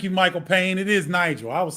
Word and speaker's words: Nigel: It is Nigel.